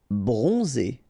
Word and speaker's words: bronzé: Bronzé. So O-N, on, and then Z. It's really pronounced like Z.